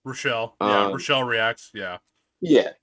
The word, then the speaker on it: Rochelle: you, and I think I always say her name wrong because I want to say Rachel, but I know her name's Rochelle and not Rachel. Rochelle.